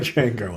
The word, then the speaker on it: Django: The D is silent. Like Django, apparently.